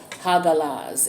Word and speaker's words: hagalaz: challenge in this situation is the room called hagalaz it's spelled h-a-g-a-l-a-z hagalaz talks about a storm a